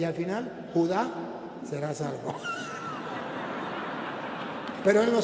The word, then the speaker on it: Judá: Y me dijo, "No, mi hijo, ahí dice Judas." No, tío, mire, tiene un acento en la A y le falta la S. No es Judas, es Judá.